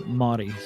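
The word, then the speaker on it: Māori: No, since he made a clone of a Maui person. Yeah. Or Motty, excuse me. Got to say it properly.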